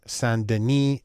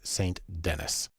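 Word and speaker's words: St. Denis: though her name looks like it should be pronounced Ruth Sanden she's American so it's St Dennis the first thing we want to do is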